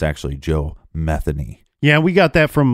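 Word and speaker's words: Joe Metheny: you look up some reports they will say Joe meeni but it's actually Joe methany yeah we got that from local Baltimore reports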